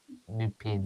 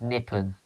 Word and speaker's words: Nipun: Niall, it's spelled Nipun. It's not Nupin. Yeah. Nippon, not Nupin. It's Nippon. It's Nipun.